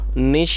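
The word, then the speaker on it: gnash: growled मतलब वो गुराया नेश और दोस्तों यहां इस वर्ड के अंदर ये जो जी है ये साइलेंट है तो इसे नेश पढ़ेंगे नेश हिज टीथ निशि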